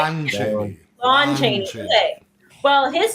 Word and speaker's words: Lon Chaney: Lon Chaney. Lon Chaney. Okay. Well, his silent film of the same name, a desperate